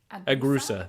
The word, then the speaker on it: Agrusa: Oh, I don't know if this is Agrusa. There you go.